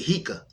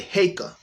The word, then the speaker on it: Heka: a is in apple so e is in cake and uh uh a is an apple so we're gonna say heyka so now we're not